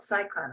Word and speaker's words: CSICon: it right and now um you know uh CS icon am I saying that or do you call it Cyclone I guess most people pronounce it okay so cyclon is another step